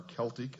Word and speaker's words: Celtic: Examples are ancient Mexican, Mayan, Inca, Aztec, Sumerian, Babylonian, Assyrian, Egyptian, Celtic, or Celtic as some pronounce it, Aryan, etc.